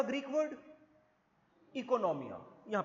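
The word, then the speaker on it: oikonomia: Economics का एक Greek word होता है इकोनॉमिया ओ से स्पेल हुआ है ओ आई के ओ एन ओ एम आई ए इकोनॉमिया स्पेलेल ओ से होता है प्रोनाउंस आई से होता है इसका भी मतलब क्या होता है हाउसहोल्ड मैनेजमेंट।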